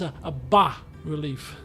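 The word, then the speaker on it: bas-relief: from a previous game you don't pronounce the s so it's a relief depicting cyclops building a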